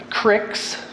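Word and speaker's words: Cryx: In fact, let me give you the proper pronouncements. It's Cygnar, Cawdor, Crix, give you more details here in a minute, Crix, Menoth.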